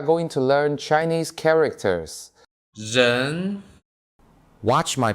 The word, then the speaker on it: 人: 人 Watch my pronunciation.